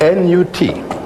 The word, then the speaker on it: Nut: How do you spell that? N-U-T. Pronounced Nut. Some people write it N-O-U-T.